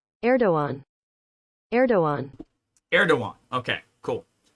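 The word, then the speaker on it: Erdoğan: that ER to go hang on uh pronounce pronunciation erdoan erdoan erdoan okay cool erdogan appoints crypto Professor to Central Bank monetary body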